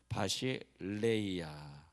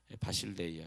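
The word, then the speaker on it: βασιλεία: 근데 영원한 천국이라 할 때 천국이라는 단어를 바실레이아, 엘 발음인데 람다라고 저 헬라어 적혀있는데 바실레이아.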